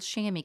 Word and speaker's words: chamois: i'm just using a little shammy cloth chamois i think is the the way it's spelled anyway and but this reference